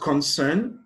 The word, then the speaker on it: concern: on the first syllable but concern the stress is placed on the second syllable so the correct option